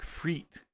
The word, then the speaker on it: frites: You say it like freet. So fries would be freet.